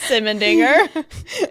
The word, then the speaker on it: Simmendinger: Don't blast Simmendinger. It is spelled exactly how it sounds.